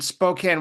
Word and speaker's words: Spokane: Northwest toward the end of the month in Spokane, Washington, right?